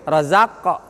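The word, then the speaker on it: رزق: Nah, bukan hanya mantul, razaq betul makhrajnya, tapi sifatnya belum ada. Harus tebal. Razaq. Itu cara bacanya. Wa mimma razaq, ngangkat rahangnya tebal. Kalau tidak ngangkat pasti tipis. Razaq tuh beda dengan razaqnahum, tebal.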